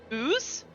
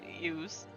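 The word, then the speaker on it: Iuz: the last book is concerning the demigod Ooze and its minions. Ooze. It's I-U-Z. You tell me. I'm going Ooze, with got it. Ooze. I'm That's saying fine. the I is silent.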